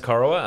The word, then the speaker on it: Corowa: But you're from Corowa, right? Yes. Corowa, is it? That's how you pronounce it? It is pronounced Corowa, a little town nestled on the banks of